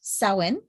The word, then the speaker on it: Samhain: celtic festival of it's spelled samhain but it's pronounced so in okay um they would uh light bonfires and wear costumes to ward off ghosts um sally sawin is celebrated to welcome the harvest and usher